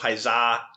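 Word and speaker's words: Paisà: Um so yeah, Paison, the English title Pisa, the Italian title, um with an accent on the the last a um came out in 1946.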